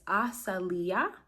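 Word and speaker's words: Asaliah: So the way you say this angel's name is Asalia is how you say this name.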